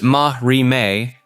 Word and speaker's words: marime: The system of Marame, pronounced Mahri, governs spiritual purity and contamination.